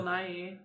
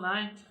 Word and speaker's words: Nighy: I thought it was Bill Nighy. It could be, but I've only heard Bill Nye, not the science guy.